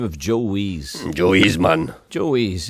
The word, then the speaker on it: Weiss: No, Wees. He pronounced it Wees.